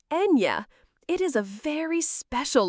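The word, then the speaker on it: eñe: That is the letter ña, pronounced Enya.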